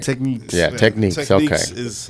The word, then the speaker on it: Technics: to Technics. I can never call them Technics ever again, though, right? Techniques.